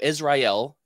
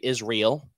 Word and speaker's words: Israel: So, I mean, you pointing using that pronunciation and saying El at the end strongly, I think super cool, because most people just say Israel, and it kind I'm from the South.